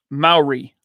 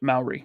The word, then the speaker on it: Maori: Maori. Okay. Thank you. That's how you pronounce it, Maori.